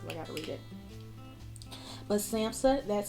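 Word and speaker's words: SAMHSA: for this because I gotta read it but samsa that's spelled s-a-m-h-s-a dot gov that is the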